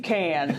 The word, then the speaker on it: Kahn: summer is the man with the plan, Kahn. That's how you pronounce that, right? That is. Or Kahn some days too.